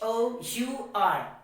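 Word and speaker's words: hour: we will understand this with some examples h o u r our not however so we will pronounce it what our now the next example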